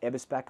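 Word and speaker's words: Eberspächer: So German product, the Eberspache is absolutely top tier, and that Eberspache, I've confirmed, that's exactly how you pronounce it.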